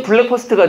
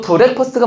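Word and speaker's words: breakfast: 근데 왜 블랙 퍼스트가 돼? 브레이크 퍼스트라니까? 이해됐어요? 안 됐어요? 그러니까 발음도 브레이크 퍼스트가 맞습니다.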